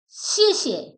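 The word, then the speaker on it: 谢谢: phrase to Express gratitude pronunciation the first CH is in photon the second CH is in neutral tone so pronounce like that sh sh how to use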